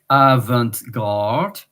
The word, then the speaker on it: avant-garde: And in English, avant-garde. In French, avant-garde. A and T. In English, avant, but in French, avant. We don't pronounce the T.